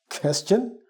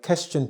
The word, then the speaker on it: question: Question? I thought it's supposed to be question.